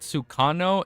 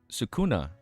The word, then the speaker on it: Sukuna: Not Sukano, it's Suk Sukuna.